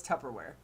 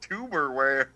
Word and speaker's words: Tupperware: Geekus apparently had this Tupperware. It's pronounced Tupperware. Tupperware. Yeah. What you put your kind crap of dinner hell at. do you live in that it's pronounced tuberware?